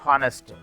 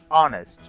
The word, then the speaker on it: honest: Whereas in these sentences, H is not pronounced at all.